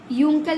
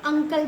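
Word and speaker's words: uncle: यू एन सी एल ई को हम यूंकल नहीं पढ़ते हैं। अंकल पढ़ते हैं।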